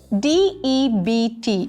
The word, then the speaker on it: debt: Next word, debt. DEBT. ஆனால் இதை debt அப்படின்னு தான் உச்சரிக்கணும்.